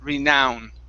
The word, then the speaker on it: renown: now this word here instead of renown okay like no it's now renown green now okay all right very